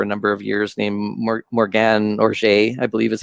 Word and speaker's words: Morgane Oger: has been for a number of years, named Morgane Oger, I believe is how her name is pronounced.